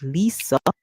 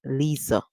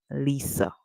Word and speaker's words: Lisa: can hear it as Lisa because the S can be pronounced as Z seeing that it comes after an i okay but the most common pronunciation or popular pronunciation is Lisa okay we have already